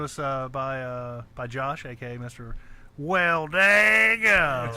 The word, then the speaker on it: Welldagum: like to call him, Welldagum. But that's obviously not how you say it. Welldagum. That's right. Got to put that twang on.